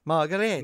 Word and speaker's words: Margariti: You got to say it like in, remember, Inglourious Basterds. Margarete. The Outsider, the cinema of Antonio Margarete.